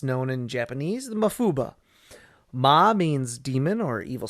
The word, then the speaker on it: Mafuba: seal or enclose and ba means wave it's the same kanji that's used in Kamehameha and dodona but because of Japanese semantics and weird language rules here it gets pronounced as ba instead of of ha or PA so that's fun cool